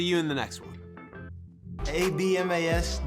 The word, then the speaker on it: Abmas: ABMAS, the B is silent.